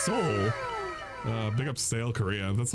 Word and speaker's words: Seoul: It's Seoul.